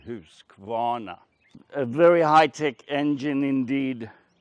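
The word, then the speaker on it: Husqvarna: hirsquana by the way this is the swedish pronunciation house guana a very high-tech engine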